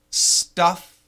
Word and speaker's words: stuff: a big difference Patrick stuff staff stuff that's a short u uh like fun Fu n fun stuff stuff and